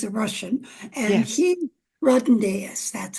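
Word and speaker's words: Rodonaia: he Rodnaeus, that's how you say his name, and he was hit by a car, and he got killed right away.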